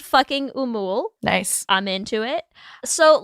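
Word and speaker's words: Fucking Åmål: So I think it's pronounced fucking Umul.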